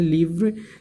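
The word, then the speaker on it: livre: Students आप side में देख सकते हैं लिवरे लिखा हुआ है, इसका प्रोनाउंसिएशन हम क्या करेंगे, लिवरे। प्रोनाउंसिएशन क्या करेंगे स्टूडेंट्स, हम इसका प्रोनाउंसिएशन करेंगे लिवरे, लिवरे, व्रे, इसका प्रोनाउंस।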